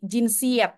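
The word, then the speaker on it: cinsiyet: Nah kalau dari segi jinsiet jinsiet itu ada yang tahu teman-teman kita sambil belajar bahasa Turki ya jinsiet ini kan tulisannya cinsiete ya Tapi bacanya C Itu bahasa Turki bacanya itu Je Jin Gere Allah inanja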